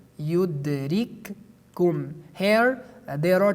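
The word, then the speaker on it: يُدْرِككُّمُ: Based on idgham, we pronounce it yudrikkum.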